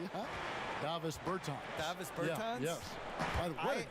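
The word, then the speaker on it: Dāvis Bertāns: Oh, well, now, at this point in my life, it's Davos Bertans. Is that how you say his name? Yeah. Davis Bertans.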